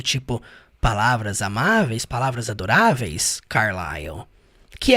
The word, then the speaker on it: Carlisle: diz Fair Words Carl eu acho interessante o jeito que se pronuncia o nome do Carl porque se escreve carlisle e se fala Carl né não tem nada a ver com a escrita e então ele disse